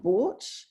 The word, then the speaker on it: bought: correctly um caught and bought one way to to really emphasize that g h sound is to pronounce it the way it used to be pronounced which was with the h sound so it used to